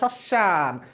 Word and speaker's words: শ্মশান: উচ্চারিত হবে তাহলে এখানে বানানটা কি হয়ে যাচ্ছে উচ্চারণটা হয়ে যাচ্ছে শশান কিন্তু শশান না শশান মফলাটা শব্দের শুরুতে আসবে